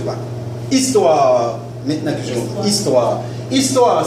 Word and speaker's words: histoire: Se supone que el H no se pronuncia.